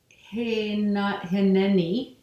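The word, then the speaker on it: הִנֵּנִי: a Hebrew sign, and it's pronounced, that means here I am, like as God, here I am with you. Pronounced Hineni.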